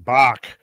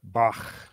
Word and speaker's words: Bach: it was years before I went from Bach to Bach yeah exactly I think I finally now in my seventh decade got it down that how you say it Johan's Bach yeah